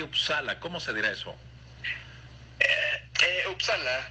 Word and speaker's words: Uppsala: Uppsala, así se dice en sueco y en inglés, es la misma pronunciación.